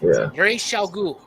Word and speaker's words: Ra's al Ghul: I'm like, no, that's how you pronounce it. It's Ra's al Ghul. The movies fucked it up with the Ra's al Ghul thing.